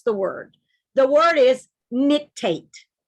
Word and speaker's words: nictate: a word and i'd like for you to pronounce the word the word is nictate say the word nick tape very good nictate now i'm going to show you what nictate